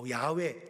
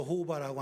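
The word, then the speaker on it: 야훼: 그리고 하면여 야외 제가 저 호바라고 안 하고 야외 발음식으로 야외 썼어요.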